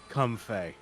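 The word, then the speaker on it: Comfey: I'm being told that the official pronunciation is come Fay cuz is comfort and you know Fay flower or or fairy right yep it is it is not like Comfort like comfortable yep and he was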